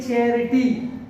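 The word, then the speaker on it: charity: इसको पढ़ते हैं चैरिटी, ये CH च का प्रोनाउंसिएशन हो रहा है, ये यहाँ पर एक इंग्लिश वर्ड है।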